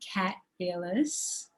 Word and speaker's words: Kat Ellis: And today I'm talking to the divine Kat Ellis. Did I pronounce that correctly, Kat?